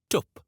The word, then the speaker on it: twp: It can also sound like o, as in book. Try saying twp.